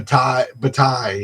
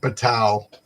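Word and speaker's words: Bataille: she called him something else but it's B batai you know like um French you don't pronounce it's not batal okay okay well I'm gonna be right back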